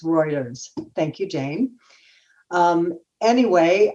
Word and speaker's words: Reuters: a call out that i pronounced reuters wrong it's reuters thank you jane um